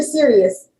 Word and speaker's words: Sirius: Is it series or serious? Sirius XM, like I'm serious about this. Okay, serious.